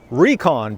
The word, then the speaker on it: Rekon: the recon 4 and i do prefer to pronounce this here recon as recon because you know like reconnaissance i want to go